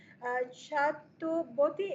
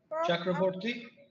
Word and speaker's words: Chakraborty: Arup Lal Chatuboti. Am I pronouncing it correctly, Prof? Chakraborty Chakraborty from Electrical Engineering, IIT.